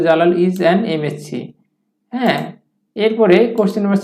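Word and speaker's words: MA: এটার নিয়মটা কি, এটার নিয়মটা হচ্ছে যে সংক্ষিপ্ত শব্দের শুরুতে কনসোনেন্ট থাকলেও তার উচ্চারণ যদি ভাওয়েলের মতো হয় তাহলে তার পূর্বে অ্যান বসে, যেমন এমএসসি উচ্চারণ করতে গিয়ে ভাওয়াল চলে আসছে, একইভাবে এম এ উচ্চারণ করতে গিয়ে ভাওয়াল চলে আসছে, এই জন্য আমরা এই দুই জায়গাতেই অ্যান দিতে পারবো।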